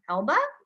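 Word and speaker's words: Elbe: elb it's e- lbe it's mostly pronounced Elba I've heard my colleagues pronounce it many different ways but it it's I believe supposed to be pronounced the Elba River and this is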